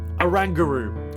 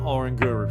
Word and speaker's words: Oranguru: at the moment and all of them have a rangaroo which is how you pronounce it it's not oranguru some of you out there are thinking it's